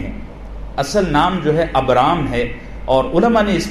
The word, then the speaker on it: ابرام: اصل نام جو ہے ابرام ہے، اور علماء نے اس پر الگ الگ تحقیقات لکھی ہیں، لیکن عبرانی زبان میں اس کا تلفظ یہی بنتا ہے ابرام.